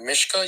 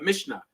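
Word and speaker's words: Mishnah: I'm pronouncing it wrong the Mishka you said no the mishna the mishna so this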